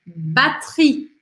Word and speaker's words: batterie: Batterie, batterie, batterie.